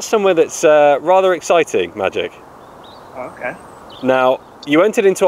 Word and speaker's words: Maciej: competition hi good morning zamachi uh yeah it's pronounced magic yeah it's pronounced what sorry magic like abracadabra just magic oh just magic and